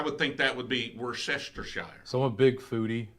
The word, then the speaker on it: Worcestershire: Worcestershire. Worcestershire. See, if I'm going to try to pronounce that right, if I'm looking at it, I would say it's Worcestershire. Like I would say that WORCE is Worce.